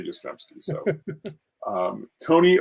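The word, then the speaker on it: Yastrzemski: like i cannot say his name like karl yastremski like literally took me like 15 years to be able to say yostremski so um tony oliva oh leva there we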